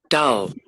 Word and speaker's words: dull: So look at it or check on the pronunciation. Dull. Dull. Dull. Dull. And if you see, Is it's similar to this one, but it is not the same. Let's check Doll.